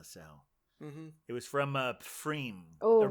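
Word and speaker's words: Pfriem: it was from uh freem or maybe it's just pronounced freem yeah free I think it's a silent P but I just want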